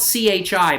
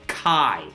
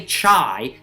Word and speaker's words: chi: Now, it's spelled C-H-I, but it's pronounced chi. It's a Greek letter. Don't say chai.